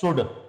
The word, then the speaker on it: should: Affirmative frame है subject plus शुड, SHOULD। जो बच्चे प्रोनाउंसिएशन में कमजोर हैं वो ध्यान रखें, एल को नहीं पढ़ेंगे।